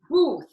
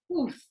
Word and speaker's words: booth: Now, if you are from the provinces, you might pronounce booth with just air at the end. Booth. But we want vibration. We want your voice in there. We want booth.